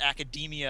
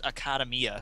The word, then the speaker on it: Academia: I feel like an idiot now because you pronounce it Academia and that makes way more sense than the way I pronounce it which is acadamia so yeah I still occas used to those